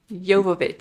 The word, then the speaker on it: Jovovich: There's no S in her name. Jovovich.